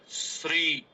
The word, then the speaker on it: श्री: ये रखना है कि स जुड़ र जुड़ री मिलकर बनता है श्री इस तरीके से हमें